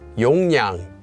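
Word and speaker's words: 용량: the final one is pronounced as yongyang according to sound change rules this one is Yong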